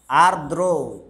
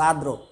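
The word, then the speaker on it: আর্দ্র: তারপরে বল আমরা এবার পড়তে পারি আরদ্রতা আরদ্র এটা যেহেতু একটা রেপ আছে একটা র ফলা আছে উচ্চারণ হওয়া উচিত আরদ্র কিন্তু ফিজিক্স শিখার স্বার্থে এবং উচ্চারণের সুবিধার্থে আমরা উচ্চারণ করব আদ্র র ফালাটা আমি উচ্চারণ রেপটা উচ্চারণ করতে পারছি না আমি করব আদ্র আসলে হবে আদ্রতা তাইতো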